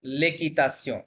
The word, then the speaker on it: l'équitation: ভাঙি পড়িলাম স্যার আচ্ছা এটা একটু ওকে ওকে, হ্যাঁ আবার বলেন l'équitation লেকি, l'équitation আবার বলেন l'équitation ওকে, l'équitation কি হবে?